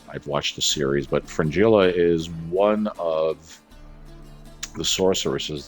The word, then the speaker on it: Fringilla: So I pronounced Fringilla's name wrong in the last video that I did. I said Francesca, which, okay, whatever. I've watched the series, but Fringilla is one of the